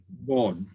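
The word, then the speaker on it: ظ: board. Wow, we're going way ahead. There we go. So seen, Okay. sheen, sawed, and Odd. bought. So the Board.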